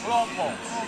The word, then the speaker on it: Hlompho: You eat your throat before you say it. Hlompho, yeah.